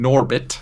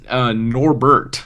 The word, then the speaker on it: Norbert: master Tyler is Irving Norbit professor Irving Norbert any relation to Norbit of Eddie Murphy Fame Oh actually it looks like it's Norbert I'm sorry I was mispronunciation on my part so professor surfing Norbert